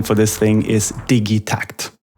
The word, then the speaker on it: Digitakt: for this thing is digy tact it's a Swedish invention it's a Swedish product made by a Swedish company and it's a combination of two Swedish words digital and tact that becomes digit TCT